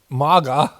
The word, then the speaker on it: MAGA: Like it's a hard A, you know. MAGA, like it's the easiest thing to pronounce.